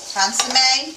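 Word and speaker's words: consommé: Then once you saute your mushrooms, you're going to want to use 2 cans of beef consomme, I guess. Consomme. Consomme, yeah. You said it right earlier.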